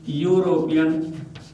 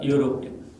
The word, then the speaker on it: European: similarly it might be european u this is you song again a consonant sound so i use i saw i met i don't use i meant an european i say i met a european this you should not